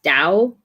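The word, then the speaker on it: Duyvis: by corrine duvis davis i've always pronounced this davis but i know that i know that's not the right way of pronouncing it yeah i've looked on her website and i think it's pronounced like the first the d-u-y that is pronounced like hat the oh you bit in a house so it's like dao style this i'd yeah that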